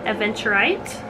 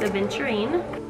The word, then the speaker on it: aventurine: an additional green um aventurite or aventurine i think i've been saying it wrong last time it's aventurine then we have a